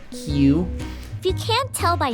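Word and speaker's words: Kyu: this this love fairy called Q spelled KY U I'm assuming it's pronounced Q if you can't tell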